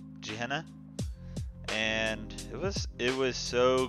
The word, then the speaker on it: Gehenna: I've heard it was called I stolen are pronounces Gehenna Gehenna and this it was so creepy I loved